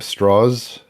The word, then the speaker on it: Strauss: And is there a reading that the the villain of the film is a guy named Strauss who insists on everyone pronouncing his name straws?